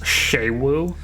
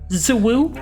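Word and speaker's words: Xu Wu: Look, I know its name is technically pronounced Shewu, but a friend of mine and myself can't get over calling it Zawoo.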